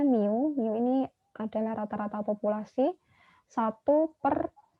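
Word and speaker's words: μ: dengan rumus yang ini Ini bacanya new ini adalah rata-rata populasi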